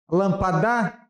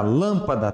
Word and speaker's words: lâmpada: Lampada? É lampada? Lampada? Acende a lampada? Ou é acende a lâmpada? Lâmpada. Tá vendo? É assim que se questiona todas as palavras. Lampada? Lampada? Ou é lâmpada? Lâmpada. A sílaba tônica é no? Lã.